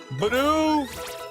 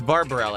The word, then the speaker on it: Bibarel: Bidoof. It's like he doesn't know how to pronounce Bibarel, so he's just saying Bidoof. It's Bibarel, actually.